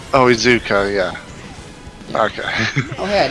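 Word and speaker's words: Iizuka: Ikuza?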